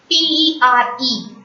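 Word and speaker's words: père: This A will be pronounced as A. P-E-R-E, per.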